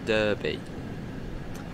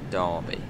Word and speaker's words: Derby: a little bit yes it's not pronounced Derby a lot of people couldn't have to be no it's Derby put an oven Accent